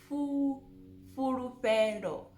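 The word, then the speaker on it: Fhulufhelo: Again, the FH, it's not furu, it's fu, furufero. Furufero. Almost like you are playing a flute.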